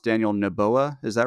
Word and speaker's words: Noboa: their president, who I think his name is pronounced Daniel Noboa. Is that right, Joseph? Noboa, yeah.